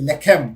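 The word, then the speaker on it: לחם: to formulate a language, so they say lechem, which means bread. Okay, but the spelling is the same. The only thing they add vowel points, dots or dashes to pronounce it as lechem, so that people identify,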